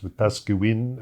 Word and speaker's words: Wetaskiwin: And of course, I'm mispronouncing it, right? It's Wetaskiwin, I think you...